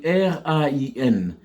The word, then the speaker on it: rain: Pour la pluie, en anglais, ça s'écrit R-A-I-N. Mais ça se prononce avec le phonème A, donc la diphtongue A. Donc, on dit rain.